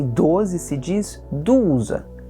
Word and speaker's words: douze: Chegamos no número 12, e 12 se diz douze. Lição de fonética, O-U. Em francês se pronuncia U. Então, douze, douze.